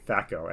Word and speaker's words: THAC0: a little annoying that THAC0. See, now you have me wanting to say THAC0, and I'm upset because it's the correct pronunciation. It rhymes with wacko, and it's not gonna fly.